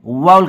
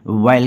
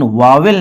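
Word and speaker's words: vowel: देखिए इसका प्रोनाउंसिएशन जो है कुछ लोग वाउल्स कहते हैं, कुछ लोग वायल कहते हैं। दोनों ही सही है, लेकिन वावेल नहीं सही है। हिंदी की किताबों में वावेल लिखा होता है, ये प्रोनाउंसिएशन तो नहीं सही है। फिलहाल वाउल कहेंगे या फिर वायल कहेंगे।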